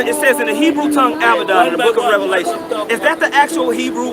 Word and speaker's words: Abaddon: maybe elsewhere and that the standard understanding of that word would be that it's pronounced Abaddon and about Donn they